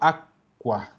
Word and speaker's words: acqua: Acuérdense que las QU, la QU suena Q, o sea, suena así, Q. La C con la Q es lo mismo que tener una doble C. Entonces yo digo aqua, lacqua, paro. Digo a, paro, qua, aqua.